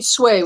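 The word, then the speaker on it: Tsui: Is it like it was swaying? So Kitty Sway with a little bit of a TS at the beginning.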